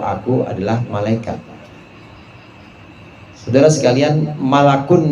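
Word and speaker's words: ملك: Saudara sekalian, malakun di sini bentuk mufrad, malakun, mim lam kaf, malakun, bacanya begitu. Kalau dibaca malikun itu artinya raja.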